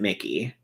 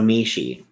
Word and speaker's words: Mishi: I know somebody who has their name spelled that exact same way, and they pronounce it Mickey. So Mishi. Got it.